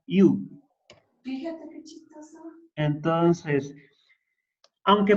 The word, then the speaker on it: eu: Nada más que se pronuncia iu.